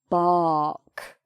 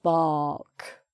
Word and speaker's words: bark: And we don't even try to do an R sound. It's just bark. So you've got the B and then an R sound and then the K sound at the end. So this R is not pronounced. It's just in the spelling, but it's not pronounced.